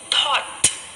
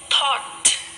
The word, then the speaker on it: thought: letter sounds are silent when o u g h and t come together then the letter sounds of u g and h are silent so let's read some words thought thought so here we can